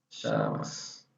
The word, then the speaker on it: llamas: Ou na Argentina, Uruguai e Paraguai, eles têm pronúncia como se fosse esse H do português. Esse H, chamas.